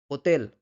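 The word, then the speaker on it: hotel: সবার প্রথম যে রুল স্প্যানিশ ভাষায় যদি কোন শব্দে এইচ থাকে সেটা শব্দের শুরুতেই হোক বা শব্দের মাঝখানেই হোক সেই এইচ এর উচ্চারণ কিন্তু হয় না। এইচ কিন্তু অনুচ্চারিত থাকে সবসময়। যেমন ওলা। ওলা মানে হচ্ছে হ্যালো। ওতেল। ওতেল মানে হচ্ছে হোটেল। আবলার। আবলার মানে হচ্ছে কথা বলা।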